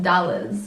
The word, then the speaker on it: Dolores: Dolores And if you want to know how it's spelled, because I know you guys are going to be trying to spell it out, it's DOLORES, dollars.